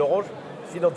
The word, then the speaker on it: Finanse: J'ai annoncé ce matin un nouveau service bancaire qui s'appelle Orange Finanse. C'est comme ça qu'on prononce en polonais.